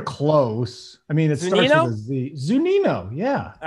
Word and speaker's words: Zunino: i don't remember his name who is it zunio am i close you're you're close i mean it starts zunino yeah all right there we go yeah i